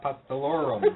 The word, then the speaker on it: Apostolorum: Apostolorum.